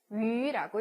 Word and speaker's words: yu: 그래서 YU 같은 경우에는 위라고 읽습니다.